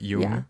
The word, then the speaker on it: Jung: it differently but yeah it's spelled with a J but it's not Jun it's not it's not it's like y but Yung I would say Yung Yun Yun Yun